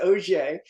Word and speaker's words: Auger: away but yeah my my name's pronounced o spelled a u g- r and and yeah my